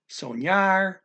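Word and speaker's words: sonhar: We have an NH, it's an Enya sound from Spanish again, soñar.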